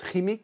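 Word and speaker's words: Qimmik: en fin de semaine kimic ou on le prononce rimic RIC ouais en fait c'est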